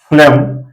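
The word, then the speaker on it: phlegm: है एग्जांपल होता है और ये है फम यहां भी साइलेंट है फम जी साइलेंट है और जिसका मीनिंग कफ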